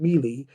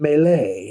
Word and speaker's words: melee: and you said the word mealy instead of melee and melee is the word and he's right i